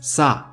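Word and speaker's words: 사: It's pronounced as sa. And there is the character in Korean mythology that represents death, and its name is pronounced the same way.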